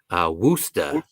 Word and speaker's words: Worcester: Amanda B says you pronounced it wrong. Worcester.